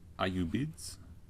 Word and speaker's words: Ayyubid: Pronunciation. Ayyubids.